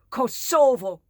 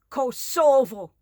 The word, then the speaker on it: Kosovo: the occupiers say it you see it as the residents say it kosovo kosovo emphasis on the second syllable honor the people server